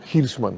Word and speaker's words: Hirschman: Ahora se escribe como suena, es H-I-R-S-H-M-A-N. Albert O. Hirschman.